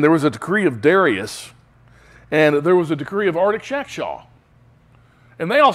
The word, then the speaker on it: Artaxerxes: Nehemiah 2, verse 1, it came about in the month of Nisan, in the 20th year of King Artaxerxes. Believe it or not, that's how you're supposed to pronounce that name.